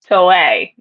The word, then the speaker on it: Toei: I think it's Toei. Toei.